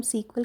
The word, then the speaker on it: SQL: तो एसक्यूएल क्या है, जिसको हम सीक्वल के नाम से प्रोनाउंस करेंगे, एक ऐसी लैंग्वेज है